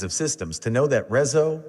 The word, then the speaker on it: RESO: We've had enough experience with these kinds of systems to know that RESO, RESO, and other mispronunciations are pretty common.